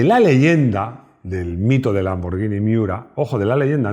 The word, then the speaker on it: Lamborghini: Se dice Lamborghini, no Lamborghini. Seguro que no dices Spaghetti, ¿a que no?